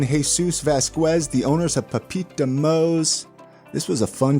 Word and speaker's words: papito: We got a lot of people that just pronounce the P like it's pepper. it's like Papito, but it's really like it's you just gotta just say pa. It's Papito.